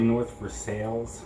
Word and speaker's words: North Versailles: pennsylvania in north versailles it's actually north for sales it's how it's pronounced spelled like versailles for